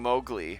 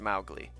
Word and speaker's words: Mowgli: buy the abish the official story because of maugley's place yeah i knew i knew you would you would appreciate that one mouthly being mowgli from in the disney version they call him